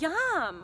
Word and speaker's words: yam: the heart space is yum it sounds like that YUM it's spelled Y a M yeah so you can